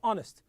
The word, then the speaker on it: honest: is son don't say hard as you say honest knowledge the wo is silent okay right the W is silent so